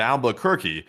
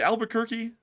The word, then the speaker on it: Albuquerque: friendly overnight truck driver again from Houston to Albuquerque and LSA forever and take one from the chat. And thank you so much for the support from Houston to Albuquerque. Albuquerque. Albuquerque. I say Albuquerque.